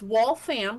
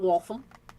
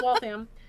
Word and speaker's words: Waltham: or lol system um it's wall fam Not Waltham. And funnily enough, uh, L I guess I've always said it wrong. Yeah, it's Wam.